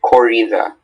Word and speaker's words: corrida: Are there any alternate pronunciations? Just corrida.